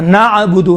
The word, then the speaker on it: نعبد: بعض یہاں پر قلقلہ کرتے ہیں، نعبد، نا نہیں ہے، قلقلہ نہیں ہے، نعبد، نعبد عین ہے، عین قلقلہ نہیں ہوتا ہے.